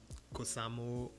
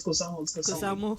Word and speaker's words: Cosamote: Kusamo. So somebody, I think it was Kevin that said Kusamo. Cosamote. Kevin said Cosamote, that the T is Yeah, silent. it's Cosamote.